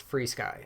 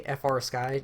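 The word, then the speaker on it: FrSky: that also free sky I know it's written FR sky but it's actually pronounced free sky I don't know why I've been questioning this for the longest time actually say FR sky just to piss people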